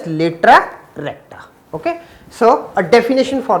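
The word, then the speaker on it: latera recta: And latus rectum in the plural form it is pronounced as latra recta.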